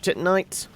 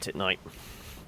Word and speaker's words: Titanite: what they're for large titanite and another bit of tit Knight also for anybody uh going on tilt because I know it is pronounced Titanite I just like to